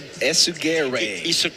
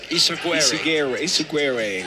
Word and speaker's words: Ysaguirre: Ysaguirre. Ysaguirre.